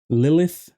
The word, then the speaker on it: Lilith: her name ever, Lisa, Lilith is how it's pronounced in English, Borcelino at the bottom.